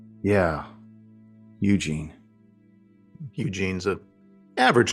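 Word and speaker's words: Eugène: It means strong in French. And that would be pronounced Eugen.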